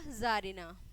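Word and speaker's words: czarina: क्या है आपका, जारिना, जारिना। सी इसमें क्या है, सी को आप प्रोनाउंस नहीं करेंगे, इतने को करेंगे जारिना।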